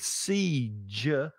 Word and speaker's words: siege: To seize. With siege, it's the J, like judge or January or June. It's that J sound, which is a different consonant sound.